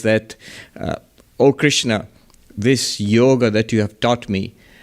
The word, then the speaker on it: yoga: correct pronunciation would be yoga not a yoga in Hindi you would say yog in Bengali yog but never yoga so what is this